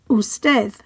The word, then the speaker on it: usted: The next word also ends with a consonant that is not N or S, so that stress falls on the final syllable. Usted.